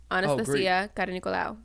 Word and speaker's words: Anastasia Karanikolaou: Anastasia Karanikolaou. That's how you say it.